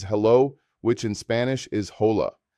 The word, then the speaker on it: hola: Our first phrase is hello, which in Spanish is hola. The pronunciation is oh la. Notice how the h is completely silent in Spanish and the stress falls on the first syllable.